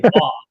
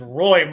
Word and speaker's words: Roy: I was like, why do they keep saying Wah? Guy's name is Roy, Mom.